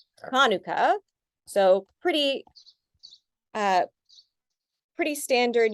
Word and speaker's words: Hanukkah: a normal huh sound also the sound is really hard for people to pronounce so if you want to get close you can just say it as a huh so hanuka so pretty uh pretty